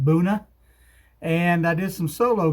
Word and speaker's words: Buena: You may pronounce it Buena Vista, but I'm told the locals pronounce it Boona.